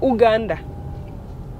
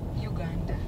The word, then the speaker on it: Uganda: Pearl of Africa, Uganda, or Uganda. Adia, how do you pronounce it? Uganda.